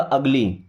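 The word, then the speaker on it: ugly: अगली। उगली नहीं बनेगा।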